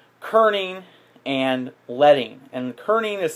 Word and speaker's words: kerning: Now the other term you want to use is one we call kerning and leading. And kerning is spelled Kerning. Kern, like a kernel of corn, Kern, but without the EL.